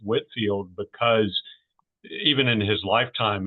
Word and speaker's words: Whitefield: can tell that it was pronounced Whitfield because even in his lifetime it was often misspelled you know without without the e in the middle.